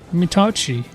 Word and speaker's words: Mitauchi: And today, that is Mitauchi.